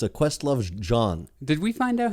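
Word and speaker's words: jawn: the root of it it's john right j-a-w-n and it uh some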